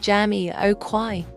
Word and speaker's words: Jamiroquai: Jamiroquai is pronounced Jamiroquai.